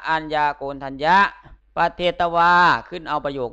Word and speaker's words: อัญญาโกณฑัญญะ: มี พระ ภาค เจ้า อัญ ญา โกณ ทัญ โย อ่าน ว่า พระ อัญญาโกณฑัญญะ ประเทศ ตะวัน ขึ้น เอา